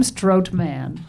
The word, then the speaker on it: Strothman: Tim But there's an H. Strothman. The H is silent. Thyme, I think. Tim Strothman. T him. Thyme Strotman.